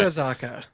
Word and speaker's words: Sakurazaka: I was waiting to see how you were going to pronounce it. Hell no. I'm not even going to try. Sakurazaka.